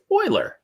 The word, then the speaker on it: Euler: which i pronounce for some weird reason is pronounced euler which is kind of cool i like that